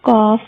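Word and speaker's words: ق: That qaf is pronounced in thicker tone, okay, and that kaf is pronounced in thinner tone.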